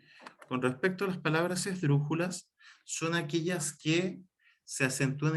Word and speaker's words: esdrújulas: De hecho, si se fijan, la palabra en sí misma, esdrújulas, es una palabra esdrújula, porque se acentúa en la antepenúltima, en este caso, sílaba,